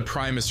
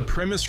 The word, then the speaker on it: Primus: how he says it it's not premise it's Primus I I don't know which way technically the right way to say it I'm not going to say the way he's saying it is wrong because I don't know which way is quote unquote right either way but I just think